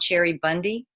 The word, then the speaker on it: Cheribundi: There's a famous brand called Cherry Bundy, and that's spelled CHERIBUNDI.